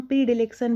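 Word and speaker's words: predilection: है, तो उसको हम प्री डिलेक्शन बोलते हैं। और मनोविज्ञान का ये शब्द है, तो इसका प्रोनाउंसिएशन जो होता है वो होता है प्रीडिलेक्शन।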